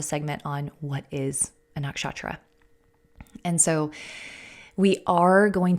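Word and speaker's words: नक्षत्र: point out you know you'll hear me say nakshatra you'll hear a lot of other American astrologers say nakshatra the correct pronunciation or the more correct pronunciation I should say is nakshatra okay and so you'll hear me say nakshatra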